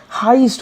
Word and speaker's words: heist: ध्यान दीजिएगा, ये जो शब्द है ई आई, इसका उच्चारण ई ना होके हाइस्ट हो जाएगा, हेइस्ट हो जाएगा, सॉरी हेइस्ट हो जाएगा, जिसका मतलब होता है चोरी, डकैती, रॉबरी।